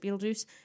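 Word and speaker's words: Betelgeuse: is the star but they pronounce it Beetlejuice and uh because no one really says Beetle guys but um they definitely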